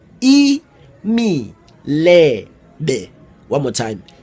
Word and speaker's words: imilebe: they are very bland spelled and pronounced as any lady e me lay day one more time e